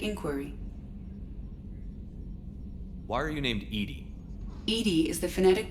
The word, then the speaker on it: EDI: have a specific inquiry why are you named Edy Ed is the phonetic pronunciation of Eed that is an acronym for